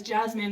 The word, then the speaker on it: Jessamine: Her name is Jasmine, but it's spelled Jessamine. So my entire time reading it, I was like, Jessamine frowned and said, why is my nose so big?